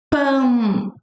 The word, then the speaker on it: pão: It's just gonna come naturally when you speak pão, pão, pão. Or you do the other hack, like So then you say p, the p in Portuguese is p. Pão, pão, pão, pão, pão, pão.